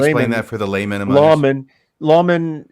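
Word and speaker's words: lamen: Now you just use a technical term, layman. Oh, yeah. Could you explain that for the layman? Lawman is really the pronunciation for Latin, and Latin it means plate.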